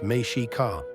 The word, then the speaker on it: Mexica: The people we call Aztecs actually referred to themselves as the Mexica, pronounced Mexica.